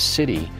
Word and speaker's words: CITI: The CHAMP VA In-House Treatment Initiative, pronounced as CITI, is a program which allows CHAMP VA beneficiaries to be treated at a participating VA medical center.